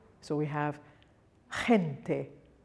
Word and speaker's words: gente: The letter G is pronounced soft when it's followed by an E or an I. So we have gente, gente.